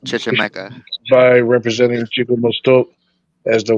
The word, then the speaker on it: Chichimeca: It's pronounced Chichimeca.